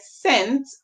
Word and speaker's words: scent: The C is making a soft sound because the E is after it. Whenever a E, a I, or Y comes after a C, you're going to hear the C make a soft sound. And making a soft sound, it means that it is sounding like nearly like S.